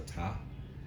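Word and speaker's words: Ptah: i think is it i think the p is silent so top so be be mindful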